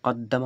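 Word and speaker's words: قَدَّمَ: তাহলে এটাও কদ্দামা উচ্চারণ। এটাও কদ্দামা উচ্চারণ। শুধু এখানে দেখতে কেমন লাগছে? যে এখানে এই যে দুটো দাল এই দুটো দালকে এখানে এই তাজদিদ দিয়ে এক জায়গায় করে দিয়েছে। বোঝা যাচ্ছে?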